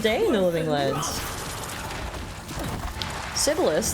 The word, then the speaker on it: Sibelius: Sibyllus, that's the name of a famous Finnish composer. Oh, is it really? Or Sibelius, maybe. I think it's actually might be the correct pronunciation.